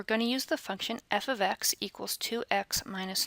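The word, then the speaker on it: f(x): F parentheses X parentheses which we don't actually pronounce it that way we pronounce it f of X so the F parentheses X parentheses is really pronounced f of X so let's say you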